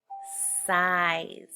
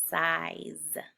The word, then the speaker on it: size: Or is there a letter that is silent? Size. If you said that's a magic E word, you are correct.